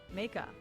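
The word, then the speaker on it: Meika: How do you pronounce that? Mika.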